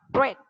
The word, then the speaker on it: read: Read, nulisnya sama, cuma bacanya yang beda ya. Verb 1 adalah read, verb 2 read, verb 3 read.